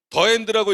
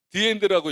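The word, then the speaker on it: the end: 계시는 거죠 지루한 시간입니다 더 엔드라고 읽으면 안 되잖아요 디엔드라고 읽어야 되잖아 그때부터이 엄마는 큰일 난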